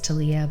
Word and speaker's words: Talia: name is is um Talia t a l i a maybe it's tiia but I Talia it's about talia's Journey